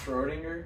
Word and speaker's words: Schrödinger: Schrödinger?